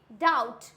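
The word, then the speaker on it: doubt: इट डाउट, डाउट तो नहीं होता है, बी होता है साइलेंट। क्यों? क्योंकि यहाँ पे टी है हमारा बी के बाद में, तो बी हो जाएगा साइलेंट।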